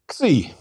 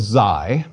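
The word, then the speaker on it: ξῖ: Xi. Some call it Xi, but I prefer Xi.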